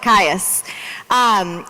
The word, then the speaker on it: Kious: And so if you don't recognize the name Erica Kious, did I say it right? Close enough? Pious like Kious.